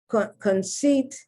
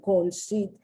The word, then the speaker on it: conceit: Conceit, look how I'm pronouncing the C-O-N. I'm not saying con as the Brits do, conceit.